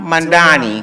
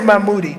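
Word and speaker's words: Mamdani: Zoran Mandani. Mandani. Not Mand. I say Mammoodi, but it's Mandani.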